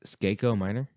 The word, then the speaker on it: Skako Minor: I think it's Skako Minor. I said it right that time.